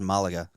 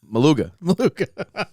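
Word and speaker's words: Málaga: the this sounds familiar now it's pronounced Malaga obviously is what I said Troy rewind the tape I said two maluga it's a Jersey it's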